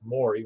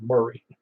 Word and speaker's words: Maury: david uh it's uh murray county yeah i'm sorry that's for you when i see m-a-u-r i think it's pronounced mori when i know well it's it is pronounced murray very good anyway there